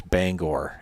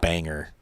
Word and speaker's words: Bangor: a tongue twister ashw on the one that always drives me crazy is Bangor everybody up here calls it Banger and it's like no no no no no swinging a